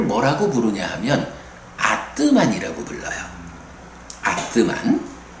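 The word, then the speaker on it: ātman: 아뜨만. 그러니까 ATMAN으로 쓰는데 아뜨만이라고 읽어요.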